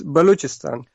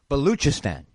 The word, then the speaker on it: Balochistan: It's Balochistan. Balochistan. Very good. Yeah. Very Baloch. It looks like Balak, but it's Baloch.